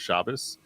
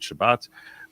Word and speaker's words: Shabbat: American Jews call it Shabbos because the S and T sounds come from the same letter, and the Israelis will pronounce it Shabbat.